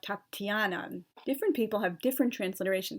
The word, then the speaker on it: Tatiana: like Olga and then there's also a soft sign after the tea and Tatiana so it indicates you kind of say it more like Tatiana different people have different